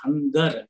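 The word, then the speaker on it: hunger: And then ಹಂಗರ್, ಈ ಶಬ್ದದಲ್ಲಿ ಜಿ ಆದ್ಮೇಲೆ ಇ ಇದೆ, ಇದನ್ನ ನಾವು ಹಂಜರ್ ಅಂತಂದ್ ಓದಲ್ಲ, ಹಂಗರ್ ಗ ಉಚ್ಚಾರಣೆಯನ್ನ ಮಾಡಿ ಓದ್ತೀವಿ, ಹಂಗರ್ ಅಂತಂದು ಓದ್ತೀವಿ.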